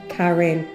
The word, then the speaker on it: Karen: Karen is pronounced Karen.